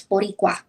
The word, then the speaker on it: Boricua: You should be able to pronounce that better. It's Boricua. Ooh.